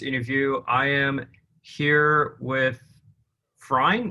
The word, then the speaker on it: Freyn: Is that how you pronounce it? Is it Freyn? I would actually say Freyn, but Freyn? yeah, but it's okay. You can just choose what you want. I'll go with Freyn because that's how you correctly pronounce it.